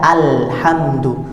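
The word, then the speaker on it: الحمد: Jadi pada kalimat alhamdu itu terdapat alif lam, di mana alif lam ini ketika di awal disebut hamzah wasal, dibaca alhamdu, tidak dibaca il atau dibaca ul.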